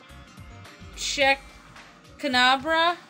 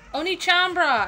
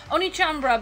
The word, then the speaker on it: OneChanbara: name again H chambra Oni chambra I'm sorry I thought the first letter was a c Oni chamra Oni chambra bikini Zombie Slayer so